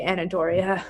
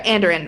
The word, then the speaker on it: Andoran: There are a few paces safer than the Anadoria Manor. Yeah, well then that will be great. I'm looking forward to it. Sorry, Andoran Manor. I've said it wrong, I think, a couple times.